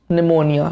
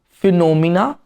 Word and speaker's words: pneumonia: Moving on to your seventh word, pneumonia. Not phenomena. Pneumonia.